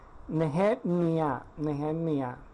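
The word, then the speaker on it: נחמיה: y la forma como se pronuncia Nehemías es Nehemia, así más o menos se pronuncia.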